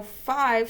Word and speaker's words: five: 2 3 4 five so I know five starts with f it has a magic silent E so this is the word five and I'm going to